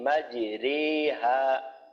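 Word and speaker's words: مجريها: না, তা হলো বিসমিল্লাহি মাজরেহা। আমরা জানি রজের রি, রজের রি, কিন্তু ওই জায়গায় রি না পড়ে পড়তে হয় মাজরে, মাজরে পড়তে হয়।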